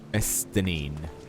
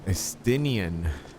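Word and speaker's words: Estinien: Estinine. Estinian? Estinian. I've been pronouncing it wrong.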